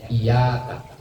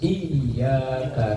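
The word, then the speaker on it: إياك: Falau khaffafal ya, maka seandainya meringankan ya, meringankan itu berarti tanpa tasdid, bacanya iyyaka. Yang benar kan iya, kayaknya ditekan, ditahan, ditekan. Lam tasih qira'atuhu, maka tidak sah bacaannya.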